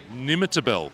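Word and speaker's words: Nimmitabel: Hi, I'm and I come from Nimitabel, a little country town. You can see the snowy mountains from my ver. Nimitabel. Correct. Oh, I spelled that. I pronounced that right.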